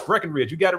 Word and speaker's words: Breckenridge: For some reason they think there's supposed to be a B in the middle of it, but uh no, it's Breckenridge.